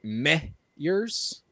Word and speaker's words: Meyers: Uh His last name is actually pronounced Meyers.